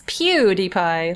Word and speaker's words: PewDiePie: That's That's not how you pronounce his name. It's PewDiePie. Like cutie pie.